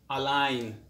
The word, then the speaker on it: align: on to our lesson g is silent when it comes before n example champagne a champagne is an expensive wine foreign it is non-native sign design which means to make or draw plans for doing something align which means to line